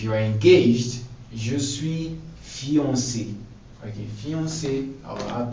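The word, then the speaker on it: fiancée: So fiancé, like fiancé in English. So for a man, fiancé, je suis fiancé. For a woman, you have to add another E, but it doesn't affect the pronunciation.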